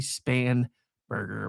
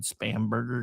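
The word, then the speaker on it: Spanberger: It's technically Span Burger, but I've always said Spamburger because it just rolls off the tongue easier. Plus, it's gross sounding. Kind of like her. Um, and uh, yeah, so I mispronounce it.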